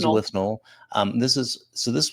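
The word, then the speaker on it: Withnail: I from 1987 uh often mispronounced but with nail and I what is this no his name is winel um this is so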